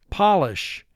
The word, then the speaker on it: Polish: mark the word polish now this is another word that can be pronounced in a different way just like bass and bass and it has a totally different meaning if i say polished as in referring to a person who comes from poland then we would